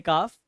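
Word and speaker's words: calf: जब आपको पता होगा सी एल एफ इसमें आपका एल साइलेंट है इसे पढ़ते हैं काफ तो न्यू बोर्न बेबी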